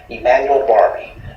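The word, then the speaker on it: Emmanuel Barbee: and Google+ by typing in my full name Emanuel Barbie that's spelled e m m a n u e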